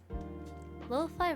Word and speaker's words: lo-fi: Lo-fi rhymes with pie.